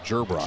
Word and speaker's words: Gerbrock: Gerbrock from Dike-New. Gerbrock? Yes. Gerbrock. J. Like a J, except it's a G.